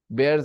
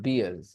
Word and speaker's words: bears: kind of bears dangerous bears are really dangerous yeah Bale not beer bear the correct pronunciation is bears not beers okay beer is something